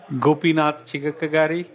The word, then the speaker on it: Gopinath Chigakkagari: bit different how do you say your name gopinatha chica kagari awesome you can call it Gopi Gopi all